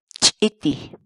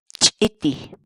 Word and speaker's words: Ch'iti: series videos where we teach you how to pronounce certain words in Quechua. So our word of the day for today is Ch'iti. Ch'iti. Ch'iti.